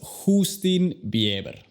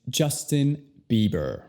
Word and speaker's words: Justin Bieber: Pero no es Justin Bieber, es Justin Bieber. La J en inglés se pronuncia primero con una D y luego J. Entonces es J.